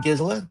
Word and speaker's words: Giza: Oh my gosh, remember when I said her name wrong? I'm still embarrassed about that. I still want to hide under my desk. They're being like Jazella, I feel so stupid.